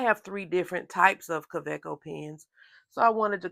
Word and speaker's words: Kaweco: talk about Kos and yes I said CCO and not COO CCO with a V because this is a German pen made in heidleberg Germany or at least that's where